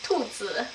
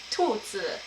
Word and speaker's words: 兔子: Bunny is 兔子 in Mandarin and 头仔 in Cantonese. So that's tu with like a downwards and zi with like that deep gravelly tone. 兔子.